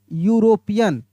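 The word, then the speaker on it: European: यूरोपियन इस तरीका से य से हम लोग लिख रहे हैं कैसे लिख रहे हैं से यूरोपियन तो यहां पे मेरे दोस्त एन नहीं लगेगा ए लगेगा। ए यूरोपियन होगा।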